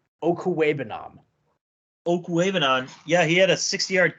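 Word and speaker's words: Okwuegbunam: I mean, whatever that guy's name is, Owagabugabala for Denver this week had a 60-yard. Respect that man. His name, say it properly, is Albert Okuwebanam.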